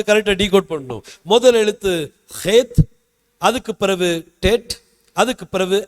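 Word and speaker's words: חית: கேப்பை நான் அடைச்சிட்டேன்னு வைங்க இந்த எழுத்தை ஹேத் அப்படின்னு சொல்லி சொல்லுவாங்க ஹெத் ஹெத் அப்படிங்கிற எழுத்து இதை உச்சரிக்கிறது கொஞ்சம் கஷ்டமா இருந்துச்சுன்னா பரவாயில்லை நீங்க ஹெத் அப்படின்னே சொல்லுங்க ஒன்னும் பிரச்சனை இல்லை நம்ம ஒரு பெரிய யூதன் எல்லாம் ஒன்னும் இல்ல நம்ம இந்தியன் தான் நம்மளுக்கு எப்படி உங்களுக்கு உச்சரிக்க பழகி பாருங்க உச்சரிக்க முடிஞ்சனால் சரியா நீங்க என்ன செய்யுங்க உச்சரிங்க இதை ஹேத் அப்படின்னு சொல்லுவாங்க தொண்டைக்குள்ள இருந்து எடுக்கணும் ஹேத் அப்படின்னா அதுக்கு அர்த்தம் செப்பரேஷன்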